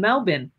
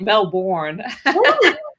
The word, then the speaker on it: Melbourne: that I love because I'm still trained to pronounce it like an Australian Melbourne and you're like Mel born and so welcome to